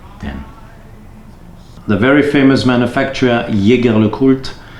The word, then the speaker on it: Jaeger-LeCoultre: The very famous manufacturer Jaeger-LeCoultre, or as the French pronounce it, Jaeger-LeCoultre, they also have an